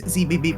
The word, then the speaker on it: Zebes: Did you know that the proper way to pronounce Zebes is zb?